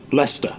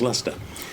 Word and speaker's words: Leicester: And remember, I've just said that the town is pronounced Leicester. Uh-huh. And it's spelled Leicester. Excuse me, but pronounced Leicester.